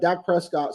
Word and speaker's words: Dak Prescott: I got Dak Prescott from. Is that how you say his name? Yep, Dak Prescott.